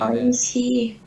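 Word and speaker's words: おいしい: Oishi. Yang di akhirnya oishi, ya, lebih panjang akhirannya.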